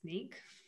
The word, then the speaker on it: Snyk: head back to your software engineer role at sneak said it right and um what do you